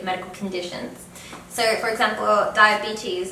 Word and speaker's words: diabetes: So for example, diabetes is spelled the same, but it's pronounced a little bit differently. So in English it's diabetes, whereas in Spanish it's diabetes.